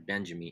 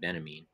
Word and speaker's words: Benjamin: on walter benjamin or benjamin you know benjamin i guess they pronounce it benamin but um maybe i